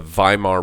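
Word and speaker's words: Weimar: talk about in the age of anxiety the Vimal republic which is spelled w/e i ma r but remembered W's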